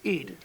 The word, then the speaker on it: Eid: I forgive me I don't know if I'm pronouncing it correctly uh the holiday of I e Eid Eed thank you um it was brought up in